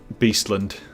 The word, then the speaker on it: Beastland: Beastland, you pronounce it like Sunderland. Beastland.